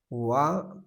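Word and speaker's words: は: W pronounced W.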